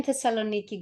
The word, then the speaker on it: Thessaloniki: Thessaloniki? Yes. Hi, Angela, and hi, everyone. Hello. I'm in Thessaloniki, Greece. So this is for the pronunciations.